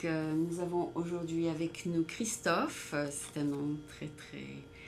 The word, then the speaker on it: Christophe: Donc, nous avons aujourd'hui avec nous Christophe. C'est un nom très très français, je pense. Christophe, comme le chanteur Christophe.